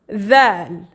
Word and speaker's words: ذال: We pronounce it as we say this. Dhal.